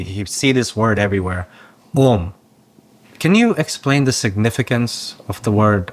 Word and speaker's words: om: or God himself and om is made of three sounds a u m but we never say we still pronounce a and u together as om so because this is how it should be pronounced and this is the